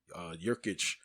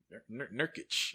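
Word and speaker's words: Nurkić: take away McCollum being that he's hurt, and Jurkic is hurt. What's his name? That's how you say his name, right? Nurkic. I think it's Nurkic.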